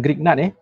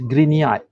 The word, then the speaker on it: Grignard: Bukan Grignard the correct pronunciation is Grignard. Dia macam ni tau. Kalau saya tulis dekat screen ni, sebutannya should be green, as in green, warna green tu, Grignard.